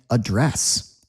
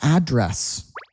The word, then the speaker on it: address: Here are two more words that people are always pronouncing wrong because they're spelled the same. Look at this. address as a noun and address as a verb. Okay. What's your address?